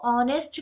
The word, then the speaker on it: honest: हो रहा है बट ह यहां पर क्या होता है साइलेंट ह इस साइलेंट एंड देयर फॉर यहां पर जो हमारा प्रेजेंटेशन होता है वो ऑनेस्ट का होता है और इसके साथ आपको